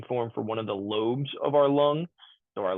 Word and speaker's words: lobe: l o stands for lobe and even though the E is dropped off we're still going to pronounce that as lobe versus lob the rack SL o